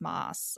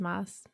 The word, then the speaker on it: Maas: by Sarah J Maas Moss I don't know she has two A's in her last name and it's very confusing it's not that confusing everyone says Moss is it okay it's not mass in my head I